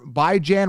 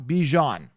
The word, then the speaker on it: Bijan: he makes it I'm saying that by John by Jan Robinson is whatever rank okay bye Jan not Bijan want to get that out so why is